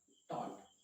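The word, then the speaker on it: taught: जैसे एग्जांपल मैंने कहा टॉट, इस कंडीशन में बेसिकली देखेंगे तो यहाँ पर जो बेसिकली हमारा कौन सा है, जीएच, वो क्या होता है, साइलेंट होता है।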